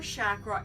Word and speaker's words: chakra: It is a Hindu practice and it's pronounced chakra. I'm today going to take you through quickly on what we do for chakra and then break it down in 7 segues